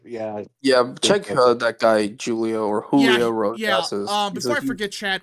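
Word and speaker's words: Julio Rosas: Julio Roses.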